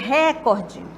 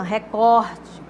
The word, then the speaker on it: recorde: Tem gente que diz recorde, como se fosse uma proparoxítona, né? Mas é uma paroxítona, recorde.